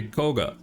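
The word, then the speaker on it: Kagha: to do is Koga a name which people don't know how to pronounce I say it like I say Koga the former fuchsia City gym leader and current Elite 4 member anyways we Massacre a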